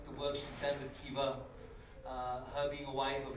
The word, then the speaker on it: Kiva: A lot of you are familiar with Kiva, or Kiva, and she'll tell us how to pronounce it properly. Got it, Kiva. Kiva. Make it your own. Say it however you wish.